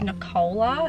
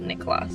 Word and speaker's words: Nikola: in Eastern European repeat in Eastern Europe and I kol a is actually pronounced Nikola not Nikola so my name is Nikola and Tesla's name was actually pronounced nikola as well not Nicholas that's this little fun